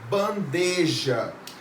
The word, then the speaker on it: bandeja: pronunciam tá só que qual que é o correto sem a presença do ir é bandeja ok próxima nacionalização das vogais